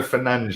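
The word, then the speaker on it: Fernandes: it's or fernandez bruno fernandez is the correct pronunciation i've been told and we will go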